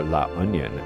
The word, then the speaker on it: La Union: Now just west of Baguio, if you go down the mountain, is La Union, or La Union as they pronounce it, a beautiful beach destination where surfers and retirees enjoy this place equally.